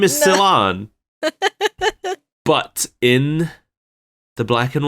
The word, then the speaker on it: Cilan: I always thought it was pronounced like Ceylon, like cilantro.